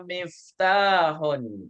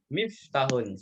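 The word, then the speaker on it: مِفْتَاحٌ: Hada miftahun. Ayo. Jadi taknya panjang, Bu ya. Jangan sampai dibaca miftahun. Salah. Taknya harus dipanjangkan. Miftahun.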